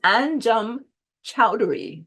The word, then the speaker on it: Anjum Choudhary: Today's guest poet is Anjum Choudhary. And Anjum, am I saying it right? Get it right? Yes, yes, you are.